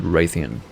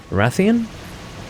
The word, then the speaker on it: Rathian: monster undergameplay was shepherd and he always said raytheon let me tell you the correct pronunciations for both monsters wrathian raphaelous yes it is loose wrathion rather loose